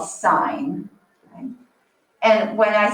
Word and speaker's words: sine: this hurts your heart or someone calls this sin let's not say you call this so i'm gonna put actually how we pronounce it that's called sine and when i say what is the sine